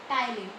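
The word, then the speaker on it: ptyalin: अच्छा, इसका एक और नाम होता है टाइलिन। मे भी मैं आप लोगों से पूछ लूँ कि सलाइवरी अमाइलेज का एक और नाम बताओ, टाइलिन। ओके, पीस में साइलेंट होता है।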